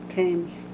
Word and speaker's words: Thames: Thames. The H is silent. Of course it is. The fucking English language. Where did it go? Right A there. bridge built in 1831 across the Thames in London was disassembled and sold in 1967.